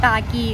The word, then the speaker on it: Khagee: We were going to the Khagee, which we always pronounce as "Kaki" but it's closed today.